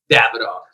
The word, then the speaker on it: Davidoff: heard Davidoff I've heard Davidoff what is the pronunciation my brother Davidoff Davidoff yes please put that on repeat because